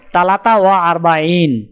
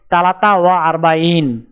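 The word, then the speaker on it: ثلاثة وأربعون: উচ্চারণ হবে তালাতা ওয়া আরবাইন। তাহলে 43 ক্রমিক সংখ্যাটির আরবি উচ্চারণ হবে তালাতা ওয়া আরবাইন।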